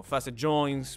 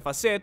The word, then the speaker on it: facet: conoce como articulaciones facetarias creo que mucha gente lo pronuncia en inglés como faset pero muchos pronuncian facet porque suena bastante más sofisticado que lo normal déjame mostrarte con un